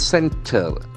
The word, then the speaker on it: centre: The next word is centre. What is the common factor you can find here in both words? The first letter is C, but here it is a soft C.